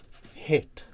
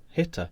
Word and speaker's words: Hitter: This is the I think it's pronounced Hit. No, Hitter.